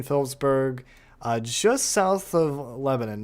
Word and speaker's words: Lebanon: Not really going to be a concern for Lebanon or Lebanon. I I guess I go off the Tennessee pronunciation how they do it in Tennessee, which is Lebanon. Not sure if it's the same in Missouri, but Norlord, Bryant, Filler,